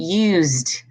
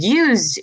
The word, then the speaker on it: used: so it's talked and used but used you're going to do you're going to pronounce the D not as a T as the D so used used you